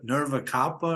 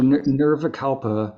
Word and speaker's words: Nirvikalpa: I'm somewhere on that continuum still of growth, Isn't but there a Nirva Kalpa or something, Samadhi? What is, I'm saying it wrong. yeah. So Nirvikalpa Nirva.